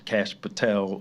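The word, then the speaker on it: Kash Patel: So JD Vance, uh, Cash Patel, that's how you say his name, and some other people started playing his shooting this video out, okay?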